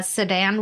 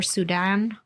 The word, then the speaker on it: Sudan: her inspiration was the sedan war or Sudan yeah thing is Sudan Sudan yeah I apologize mispronounced it yeah I mean